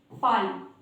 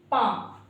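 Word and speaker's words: palm: अब गाइस अगर आपको पता नहीं है तो आप इन सब लेटर्स को पता है कैसे पढ़ोगे, आप इनको ऐसे पढ़ोगे, पाल जो कि गलत है, काल जो कि गलत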